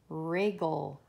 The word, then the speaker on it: wriggle: sri woof woof wire what about wriggle yeah that has a silent w we don't say the